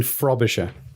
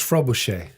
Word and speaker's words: Frobisher: the screen to me you're saying that wrong sir martin frobisher f-r-o-b-i-s-h-e-r frobisher how would you pronounce that i think that's frobuche it's not all right